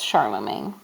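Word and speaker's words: Charlemagne: that's kind of an odd spelling but it's pronounced Charlamagne he was the king of the Franks which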